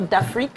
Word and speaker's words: d'Afrique: And please pronounce it again. Gastronomique or d'Afrique, how do you say it?